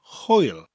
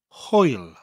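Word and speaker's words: hwyl: goodbye firstly we have the word Hoyle spelt HW y L Hoyle Hoyle a good way to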